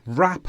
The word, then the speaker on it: wrap: It's cold, wrap up warm. Please write me a letter. So here we just pronounce the R, we don't pronounce the W.